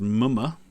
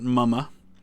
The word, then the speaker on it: Mumma: And that is how that's pronounced, apparently, is Mumma, not Mumma.